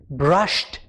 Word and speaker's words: brushed: It sounded like a T, brushed.